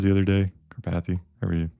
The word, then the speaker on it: Karpathy: Karpathy pronunciation. I want to butcher your name every time. Karpathy. Karpathy.